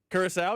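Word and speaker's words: Curaçao: They pronounce it? Curacao, yes.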